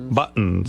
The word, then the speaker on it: buttons: Buttons, mugs, pencils. What is he saying? Why doesn't that sound right? It's buttons. The T. You got to say a T.